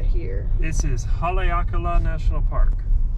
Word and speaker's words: Haleakalā: at that mountain it's so cool gray's gonna pronounce it for you no there we go this national park right here this is haleakala national park haleakala in maui and it's it's not the clearest